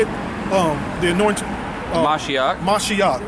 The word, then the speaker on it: Mashiach: Mashiach.